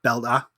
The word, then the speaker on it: belta: So it's purely belt is like just with a like an a on the end like belta. Purely belta. Yeah, that's how you say it.